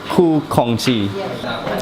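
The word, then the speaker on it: Khoo Kongsi: Ku Kongxi.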